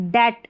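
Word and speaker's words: debt: बी टी बी टी को ट पढ़ेंगे। बी क्या है? साइलेंट। डेट डेट। ठीक है? बी साइलेंट है।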